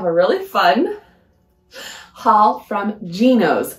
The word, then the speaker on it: Gnoce: really fun haul from gos I never know how to say this brand but that is what I've heard most consistently it is g n o